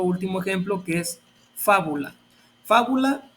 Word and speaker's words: fábula: ejemplo que es fábula fábula tiene acento en la última penúltima antepenúltima sílaba Y en este caso es esdrújula lo mismo pasa con